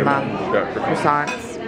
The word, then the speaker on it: croissant: And I got just regular English breakfast, or American breakfast, and croissants.